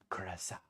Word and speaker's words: Curaçao: want to be that guy that's like, it's pronounced Curaçao.